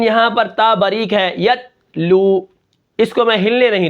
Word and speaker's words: یتلو: اس کے بعد جو ہمارا کلمہ ہے وہ ہے یتلو. اب یتلو کے ہجے کس طرح ہوں گے؟